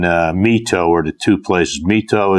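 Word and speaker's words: My Tho: Mito is capital M-Y, capital T-H-O.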